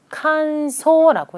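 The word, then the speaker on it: 乾燥: 칸소라고 읽습니다. 건조 한 번 더 칸소라고 읽는다.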